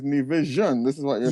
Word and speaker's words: Nevisian: I always thought Nevisian, but it seems like it's Nevisian. This is what you're saying. Yeah, that's what. That's how it's usually pronounced.